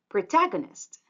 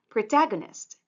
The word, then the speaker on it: protagonist: With the stress, it's protagonist. Again, protagonist. The stressed syllable is the second one, protagonist.